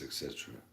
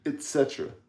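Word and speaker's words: et cetera: Yeah, actually, a lot of people do pronounce it with a D, but it's not.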